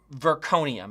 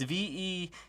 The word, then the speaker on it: vecuronium: not be happy that I'm going to pronounce this name wrong, but Verconium. It's Vecuronium, Verconium.